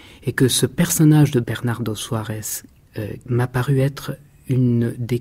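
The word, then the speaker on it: Bernardo Soares: Bernardo Suárez, ou Bernardo Suárez, pour le prononcer un petit peu à la portugaise tout de même, est certainement l'un des masques de Pessoa.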